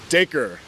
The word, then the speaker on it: Dacre: So Stranger Things, the actor that's playing the Red Ranger, and I said his name wrong. I said Darce. Obviously, it's not Darce. What's his name? Dacre Montgomery.